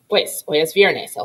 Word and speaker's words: hay: question remember in spanish if a word starts with the letter h we don't pronounce it it's silent like the word hola